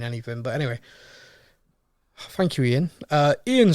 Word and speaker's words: Iain: This one, now, I'm pretty sure this is Ian, but it's spelled Iain.